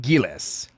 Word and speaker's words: Gills: So, as an American that does not speak Japanese, I'm sure it's supposed to be Gills. However, they pronounce it Gillis in in the show.